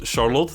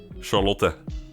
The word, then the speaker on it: Charlotte: right next up is Charlotte that's how I pronounce it it's that's that's just the way we say it in Dutch Charlotte and we have a